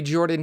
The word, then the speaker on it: Jorphdan: Hello everybody, Jordan here. The PH is silent.